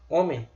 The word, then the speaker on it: homem: E você só não pronuncia, você não pronuncia. Se você tirar isso aqui, ó, homem, você consegue pronunciar do mesmo jeito. Homem, hino. Homem sem H, hino sem H. Do mesmo jeito. Não precisa do H não.